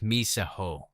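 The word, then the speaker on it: μισέω: Luke's gospel is written in Greek, and the verb in the verse is a form of the Greek verb pronounced miseo.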